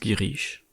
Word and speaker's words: Girish: Bon, je viens de regarder, donc ça se prononce Girish.